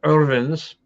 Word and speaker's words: Irvine: So the Irvines, or the Irvins, as they would pronounce it in Scotland, they turned the castle